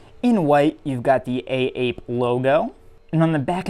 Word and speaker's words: AAPE: by a subsidiary of A Bathing Ape called AAPE. And yes, as far as I know, it is pronounced A-Ape, but I prefer to call it AAPE.